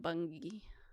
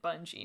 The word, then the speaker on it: Bungie: Now we can call them Bungie. I simply cannot They bunggeied it. I cannot get my brain to read the name of this company and pronounce it Bungie. My brain goes bungi.